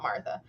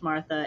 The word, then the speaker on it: Martha: For what it is worth, her name is spelled Martha, but that doesn't mean that it's necessarily pronounced Martha and not still Marta. But okay.